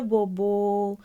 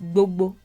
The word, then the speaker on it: gbogbo: In the rendition, it was something along the lines of Ile bobo. Again, gbogbo became bobo because the B letter became harder to pronounce as the decades went by. So it's gbogbo.